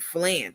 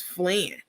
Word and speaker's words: flan: Every time she goes out, she doesn't either know how to pronounce something on the menu, or she's asking, like she asked what she called it flan. What's flan?